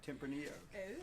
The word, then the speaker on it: Tempranillo: it's a Spanish word it's a Spanish great so we get poncing pronounces a Spanish way Tempranillo we say it the way they say it cuz they bloody well made it indeed well what